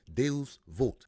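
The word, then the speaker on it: Deus vult: but what is it the wording on his arm is Latin and how it's pronounced is if I can get this right it's pronounced de vult and what that simply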